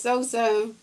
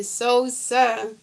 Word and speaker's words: Sosa: You spell it wrong anyway. Yeah. Zoom. It's Sosa. You got to hear the words I say. Sosa.